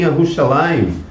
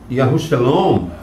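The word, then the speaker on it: ירושלים: línguas, conforme o Ruach Kodesh lhes concedesse a pronúncia. E estavam habitando em Yerushalayim, ou Yerushalom, né?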